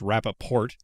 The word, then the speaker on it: Rapaport: And I'm going to call him Rapaport, even though I know it's pronounced Rapaport, because I only just now learned that he pronounces it with the T.